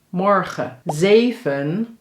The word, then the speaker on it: morgen: Maar zoals dus gisteren, dat spreken we eigenlijk uit als gisteren. Morgen spreken we eigenlijk uit als morgen.